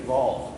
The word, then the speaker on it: Ewald: Ewald, it was actually Ewald, because they pronounced the W as a V.